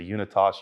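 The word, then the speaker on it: Unitas: In fact, they were a, what I refer to as a unit toss, you may pronounce a different uni T a S movement, which was an ETA based movement.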